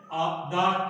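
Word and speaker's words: the: जब शब्द की शुरुआत व्यंजन से होती है तो उसके पहले जो टीएचई है उसका उच्चारण होता है दा, दक्ष।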